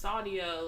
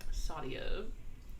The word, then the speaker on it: Saadya: Like, and I'm just like, and like, I literally have to say, just replace the Y with an I. It's Sadia.